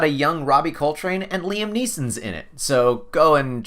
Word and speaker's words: Liam Neeson: And hey, it's got a young Robbie Coltrane and Liam Neeson's in it, so go and check that out.